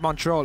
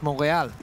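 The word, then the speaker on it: Montréal: I found out that it's actually not Montreal, it's Montreal. That's how you actually pronounce it with the French accent.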